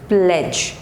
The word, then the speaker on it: pledge: next letter is d d is generally silent when it comes before g e at the end of the word okay like this d